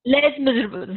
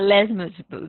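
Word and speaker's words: Les Misérables: know I see this is how it is pronounced Les meable huh Les meable yes yes Victor Hugo you you just see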